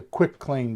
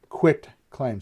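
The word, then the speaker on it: quitclaim: let's move on to quick claim deed quit claim so it's spelt q-u-i-t and it's all one way yeah it's all one word quick claim quit claim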